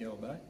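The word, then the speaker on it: Åberg: There's usually a little circle above the A, which pronounces a little bit different. So even in Swedish, I would say Ludvig Aberg, but here it goes Ludvig Aberg.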